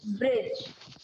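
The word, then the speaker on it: bridge: ये ब्रिज। क्या है? ब्रिज। ब्रिज। इसमें डी ब्रिज। है लेकिन सिर्फ पढ़ेंगे हम लोग क्या?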